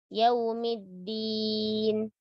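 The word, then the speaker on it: يوم الدين: Pada kata dinnya, sifat syiddah pada dal dijaga. Ya. Dia tidak hamas. Ya. Din. Ya. Masih kadang orang menghamaskan huruf da. Yaumiddin, middin. Nah, ini tidak boleh.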